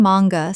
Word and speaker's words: manga: Manga. Common mispronunciation. Man-ga. Correct pronunciation. Mang-ga. Two syllables with the stress on the first. The A is short, not long. Example: She had been reading manga since she was 12,